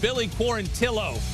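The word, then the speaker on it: Billy Quarantillo: Billy core until OH who made it a point to say my name is pronounced Billy poor until Oh getting his hand raised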